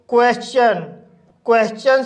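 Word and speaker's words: question: जब किसी वर्ड में एस के बाद TION आता है तब टी का उच्चारण चा किया जाता है। जैसे क्वेश्चन शब्द में एस के बाद TION आया है, इसलिए टी का उच्चारण चा होगा, इसलिए इसे क्वेश्चन पढ़ा जाता है।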